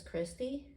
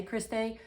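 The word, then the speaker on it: cristae: The inner membrane's name is Christie. It looks like Christe, and some people say Christe, but it's actually pronounced Christie because in science, AE makes the E sound.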